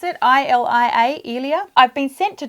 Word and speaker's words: Ilia: So is that how I pronounce it? I-L-I-A, Ilia.